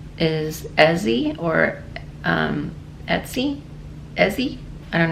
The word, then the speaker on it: Ezi: It's E-Z-I, but when she channeled herself through a client, that's how she pronounced what her real name is. And somehow through the years we've interpreted it as Isis, so it's actually Ezi.